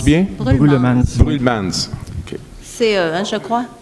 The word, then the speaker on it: Brullemans: Brulmans, je le prononce bien? Brulmans.